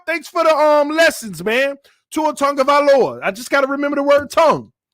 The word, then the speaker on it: Tagovailoa: Tongue, so say tongue. Tua Tagovailoa. Okay, if that's right. No, you saying it wrong, TD. So Tua Tagovailoa. So tongue is the key.